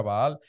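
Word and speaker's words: בעל: Baal, Señor en hebreo se dice Baal, se pronuncia Baal, mi Señor se dice Baalí, ¿sí?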